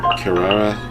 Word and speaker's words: Kirara: want to say it wrong how do you pronounce it Kirara yes Kara if you ever want to trade tactic okay